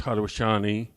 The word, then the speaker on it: Haudenosaunee: the Onondagas, which are part of the Iroquois, pronounced the real word, native word is Haudenosaunee, and different group.